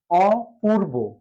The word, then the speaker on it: অপূর্ব: ও পুর। আর রস্যকার কিংবা দীর্ঘ উকার থাকলে উচ্চারণে রস্য উকার লিখবো অপুর।